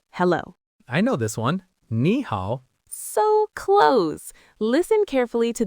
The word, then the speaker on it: 你好: Both ni and hao are third tones, which are a dipping tone. But when two third tones are together, it's hard to say. So we change the first one to a rising second tone. So you don't say ni hao, you say ni hao.